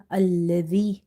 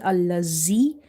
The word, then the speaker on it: الذي: And when it comes to letter zal, okay, zal, try to pronounce it the way it should be, like ha zal zal alladhi the. If you say allazi, it will be a mistake.